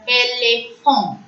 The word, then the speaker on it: éléphant: Next, elephant in English is called as éléphant. Éléphant. E, both the E's have the acute accent. AN is the nasal sound. So, éléphant. Next alphabet, F.